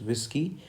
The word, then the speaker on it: Whiskey: Basically, for this letter W, the word is whiskey, but in phonetics, the spelling is WISSKEY. Okay, so I'm aligning this. That means you have to focus or emphasize this phonetic spelling, that is WISS.